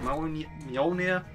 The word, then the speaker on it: Mjolnir: Also, if you're wondering, why is it pronounced Mjolnir when it's like got a J? It's because it's a soft J. You don't get that much in the English language, but in European languages, There are quite a